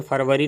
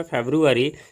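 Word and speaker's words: February: फेब्रुअरी, ये ध्यान रखेंगे, इसका उच्चारण फरवरी नहीं, हिंदी में फरवरी पढ़ेंगे, इंग्लिश में फेब्रुअरी।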